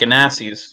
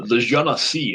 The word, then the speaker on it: Genasi: They're called Ganassis or Genassis, depending on their pronunciation. And she seems to be of the water elemental type. Okay. The Genasi, as I recall.